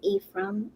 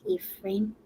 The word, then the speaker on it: Ephraim: things okay so uh American would pronounce it E from and somewhere else are probably pronounce it like London probably would have pronounced it like a frame yeah in the UK